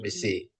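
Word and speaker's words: ψῖ: Ini psi ya, bacanya psi.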